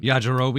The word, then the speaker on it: Yajirobe: Yajirobe.